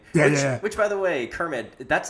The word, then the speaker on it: Kermit: Which, by the way, Kermit, that's not a very Hispanic name, if I'm not correct. No, not at all. But they pronounce it Kemi. So they totally just skip over the IT part.